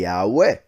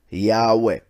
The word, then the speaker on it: Yahweh: the I, the A, the U, and the E making it, for instance, if we were to read that in Spanish, pronunciation of those letters would be Yahweh. That simple, Yahweh.